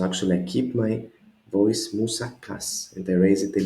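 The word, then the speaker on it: μουσακάς: The Greek moussaka. Moussakas with an S at the end. 3 syllables again. Moussakas. No, it's not moussaka, not moussaka, it is moussakas. The accent is at the last alpha, so I cannot be confused.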